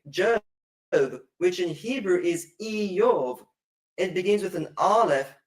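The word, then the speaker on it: איוב: And the same with the name Job, which in Hebrew is Iyov.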